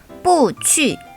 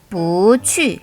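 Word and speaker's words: 不去: 이때는 뿌가 제4성이 아니라 제2성으로 바뀌게 됩니다. 즉, 뿌 뒤에 제4성이 올 경우 不去 라고 하지 않고 不去 라고 스무스하게 읽어줘야 합니다.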